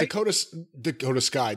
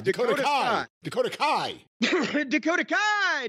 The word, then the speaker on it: Dakota Kai: Dakota Sky. Dakota Kai. Dakota Kai. Do you have to say it like the way Dakota Kai? You have to say Dakota Kai.